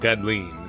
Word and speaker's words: Gdleen: Yep, I’m gonna pronounce it “Gadleen” since that’s what the Japanese pronunciation seems to suggest.